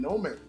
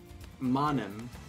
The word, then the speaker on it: Monem: So Benedictine is left now with just Kid and Nomen. Or Momen. Monem. Monem. Monem. I pronounced it incorrectly yet again.